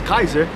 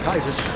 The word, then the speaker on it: Caesar: Julius Caesar to uh or Julius Kaiser pronounce it correctly Julius Kaiser to uh take to